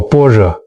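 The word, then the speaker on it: 般若: 般若这 2 个字，很多人会念错，它念作般若，翻译成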